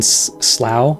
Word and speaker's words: Slough: In Slough, I believe is how you pronounce that.